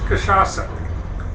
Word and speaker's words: cachaça: It's cachaça.